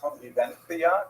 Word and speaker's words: Convivencia: Spaniards would say something like La Convivencia because they pronounce that C as a TH sound.